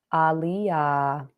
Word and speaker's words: Aaliyah: Aaliyah, like the singer.